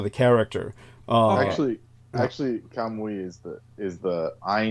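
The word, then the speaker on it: Kamuy: high level that golden I found out it's actually pronounced golden kamui. Uh that particular one. Yeah, it's different from kami which means gods.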